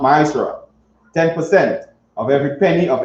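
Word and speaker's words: מעשר: Means tenth in the Hebrew and is pronounced ma'asra.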